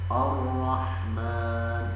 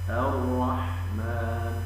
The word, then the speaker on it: الرحمن: والصحيح هكذا العالمين ومنهم من يفخر الفرح كلمه الرحمن فينطقها الرحمن والصواب الرحمن ومنهم من ينطق كلمه